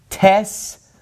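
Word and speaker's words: ταῖς: going to be pronounced tess files tesenti diaspora all right so all of those alpha yota diphthongs are pronounced like epsilons okay now this word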